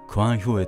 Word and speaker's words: 官兵衛: と名乗ったそもそも字である官兵衛は元は館兵衛と発音されていたと考えられているその理由は秀吉